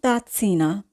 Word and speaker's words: tazza: এখানে কিন্তু প্রথম জেটের উচ্চারণ হবে খণ্ডতয়ের মতো এবং দ্বিতীয় জেটের উচ্চারণ হবে দন্ত শয়ের মতো। তাহলে আমরা উচ্চারণ করব লা তাৎসা। লা তাৎসিনা, লা তাৎসিনা, কফি কাপ, কফি কাপ।